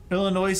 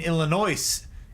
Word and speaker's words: Illinois: again rule number one the s in Illinois is silent I don't know what